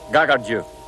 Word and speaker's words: Kakadu: he can drink it kakadu national park pronounced gaga jus by the Aboriginal people it means their Linga